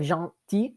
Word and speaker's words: gentil: We have gentil and gentille. Gentil is the masculine form. We don't pronounce the L at the end.